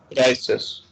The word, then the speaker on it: crisis: So when you say I is pronounced as the letter E of English. Okay, so it is crisis.